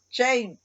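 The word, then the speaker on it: שֵׁם: Y la pronunciación para esa palabra en la lengua hebrea es Shem, que en inglés, esa pronunciación Shem es de una palabra en inglés que significa vergüenza.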